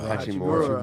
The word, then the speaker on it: Hachimura: You know, they've got that inside-out combination down low with Brandon Clark and how do you pronounce that? Yeah. Rui Right, right. Hachimura. Hachimura.